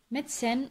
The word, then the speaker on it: medicine: Medicine, we don't pronounce the E. So E also is silent.